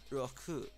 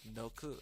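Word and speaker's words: 六: So roku is the correct way. I was putting an N in it, and that was wrong. But seeing the characters actually separated out really does help me kind of get that pronunciation. You get roku instead of, you know, I think I said like noku, but which is totally wrong. Disregard that. It's roku.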